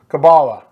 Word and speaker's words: Caballa: joined by EOU Women's Wrestling head coach Caballa. how are you? Doing good. How are you? Did I say that right? Caballa, right? Yep, Caballa.